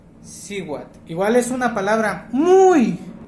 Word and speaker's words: Cihuatl: Y es Siwat o Lamat. Por aquí, Lamat, Siwat.